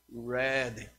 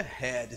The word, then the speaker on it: red: Lembrando que vermelho nós pronunciamos red, não é head. Se você diz head, head é cabeça, ok?